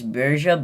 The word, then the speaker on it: Borgia: and cesare Bureau and I realize that bjerga is not the right way to say it I don't think I think it's berja but like I'm gonna